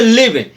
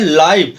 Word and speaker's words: live: देखिए तो first example इसमें आता है आपका, जैसे लिव, LIVE, लिव, यहाँ पर LIVE इसका प्रोनाउंसिएशन हो रहा है लिव, और लिव का मतलब होता है रहना। इसके नीचे एक और शब्द है LIVE, स्पेलिंग वही है और इसका, लेकिन यहाँ पर इसका प्रोनाउंसिएशन उच्चारण हो रहा है लाइव। लाइव का मतलब होता है जिंदा या सजीव।